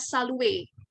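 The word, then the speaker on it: salut: Nah, ketika ada huruf konsonan di belakang, itu seringnya tidak dibunyikan. Ya, jadi ketika ada R di belakang, itu tidak dibunyikan. Ya, kita bunyikannya dengan salue.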